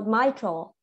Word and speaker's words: mitral: right there m i it's pronounced my not me okay it's not uh ee so we we don't say it me so my troll so my tool is